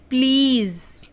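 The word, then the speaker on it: please: प्लीज क्या पढ़ेंगे प्लीज बहुत से लोग प्लीज बोलते हैं प्लीज प्लीज नहीं प्लीज ज आएगा ज प्लीज ठीक है तब ज पे जब बिंदी आ जाती है तो वो ज बन जाता है ज नहीं होता वो ज प्लीज ठीक है तो चलिए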